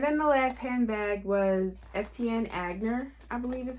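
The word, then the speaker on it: Etienne Aigner: And then the last handbag was Etienne Agner, I believe is how you say it, brand new with tags.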